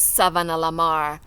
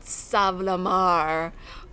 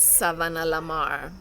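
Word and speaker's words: Savanna-la-Mar: school in savannah lamar yes it is savannah lamar not savlamar or saab as we say today nobody bothers to pronounce it correctly but yes it is savannah lamar ivy did not cherish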